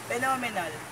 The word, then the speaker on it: phenomenal: Next example is phenomenal. The stress put in second syllable.